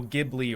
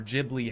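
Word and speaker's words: Ghibli: Demon Slayer anything anything Studio gibli or jibli however you prefer to pronounce it you know stuff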